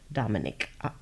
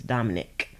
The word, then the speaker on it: Dominique: Dominique. I always say Dominique, but I try to make an effort to say it right. It's Dominic. Bobby Dominic Art.